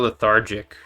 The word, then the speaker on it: lethargic: But what about lethargic? Because that's like, why would you pronounce them different? Lethargic. Oh, that's so fucked up. I hate English. Oh my god. So it's lethargic. That's correct.